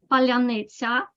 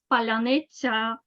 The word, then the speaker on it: паляниця: Petrenko says that there is a word that distinguishes Ukrainians from Russians because only Ukrainians can pronounce it properly. Palyanitsa, Palyanitsa.